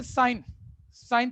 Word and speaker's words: sine: इसकी full form अभी कुछ मत लिखो, पहले चीजें सुन लो क्या कंटेक्स्ट चल रहा है। इसकी फुल फॉर्म ही होती है, पढ़ते वही है, साइन या सिन थीटा, प्रोनाउंसिएशन वही है, स्पेलिंग SINE हो जाता है।